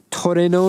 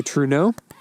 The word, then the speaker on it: Trueno: 1992 it's a sprinter Toro is how you say it in Japanese Toreno GT Apex in English I just say tro some people claim that's wrong but I do what I